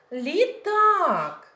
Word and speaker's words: літак: гратися літак машинка ведмедика наголос в цих назвах іграшок падає на другий склад літак машинка ведмедик Буратино Сьогодні ми зайченятами